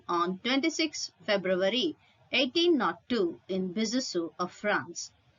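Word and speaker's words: Besançon: 26 february 1802 in bisusu of france the word b-e-s-a-n-c-o-n is pronounced as bisasu as it is a french word he was a french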